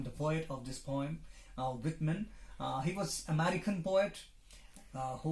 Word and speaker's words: Whitman: Some people pronounce it as Whiteman, other people Whitman, but it is neither Whiteman nor Whitman. It is Whitman, born in 1819 and died in 1892.